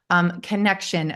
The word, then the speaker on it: Kanekshun: Connection, the way you spell it is absolutely brilliant. It's Kanekshun. And for about 2 weeks, I've been trying to sound this out like Kanekshun or King. Totally. And I'm like, wow, this is so creative and fancy. And how the hell do you pronounce this? And then just before we met today, I was like sounding it out, trying to get it right. And it just hit me connection.